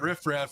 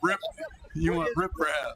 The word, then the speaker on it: riprap: Cole just said, when we were calling it riffraff, he's like, no, that's what you don't want down there. You want riprap. What is riprap? Apparently, I'm saying it right.